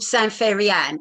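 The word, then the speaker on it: san fairy ann: Like there's a saying in the East End, Joe might know this, it's called Sanferyan, and it's spelled Sanfairyann, Sanferyan, meaning it don't matter. But that comes from the French, Sanferyan.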